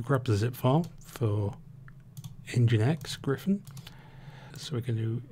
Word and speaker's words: nginx: i only recently discovered is pronounced engine x not engines but um specifically we